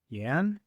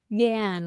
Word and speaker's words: Jan: How do you say Yan? Yan. Like Yams, but sure.